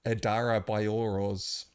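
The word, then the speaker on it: Adarabioyo: probably just butchered uh he explained that the O sounds in Adar Adara boro's uh last name are pronounced as or sounds in Yuba so probably got that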